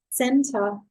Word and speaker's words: Zehnter: say you know I have how I I pronounced in your last name honestly Center Center oh sorry which means dot Santa